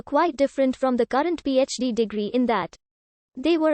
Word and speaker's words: PhD: the degree is abbreviated phd from the latin philosophy our doctor pronounced as three separate letters the abbreviation d fill